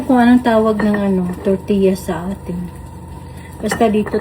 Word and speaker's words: tortilla: Ewan ko kung anong tawag ng ano, tortilla sa atin. Basta dito tortilla siya. Tortilla. Kung sa ano pa, sa Bisaya, tortilla. Kasi double L siya. Tortilla. Pero dito, yung double L, ang pronunciation niya, Y.